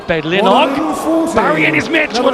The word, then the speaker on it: Bedlinog: Well, I'm glad you've done your linguistics, because not only people can say Bedlinog, they say Bedlinog. Barry and his mates would love that pronunciation, Nige.